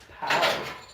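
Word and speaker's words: Pau: Oh, that's so cute, Paw. Paw or Pow? Pow. It's P-A-U, so I'm thinking it's actually Pow.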